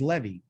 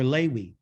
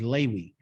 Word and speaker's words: Levi: The third son's name is Levi, or Lewi. The proper pronunciation is Lewi.